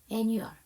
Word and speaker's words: annual: 자, 그 다음 annual에서 여러분 AL로 끝났죠. 그럼 여기 A가 묵음인가요? 아니에요. 아까 오럴이라는 구강의라는 단어에도 A가 묵음 아니었죠. 오늘 AL로 끝나는 단어가 3개 나왔는데 critical, 제일 먼저 나온 가장 중요한 critical에서는 A가 묵음이었지만 구강의 오럴과 매년의라는 annual은 묵음이 아닙니다.